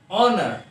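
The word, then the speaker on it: honour: बस हाँ, शक्ल पे मत जाना कभी भी, बस ध्यान रखना है कि प्रोनाउंसिएशन पे जाना है। पहला जो है हमारा वो है ऑनर, मतलब ऑनर।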